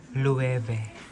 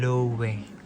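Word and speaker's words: Loewe: ang pagbigkas dito is leve Hindi yan lowe ang pagbigkas po dito sa bag is ang pagbigkas dito sa brand is leve 50,000 yan pang lalaki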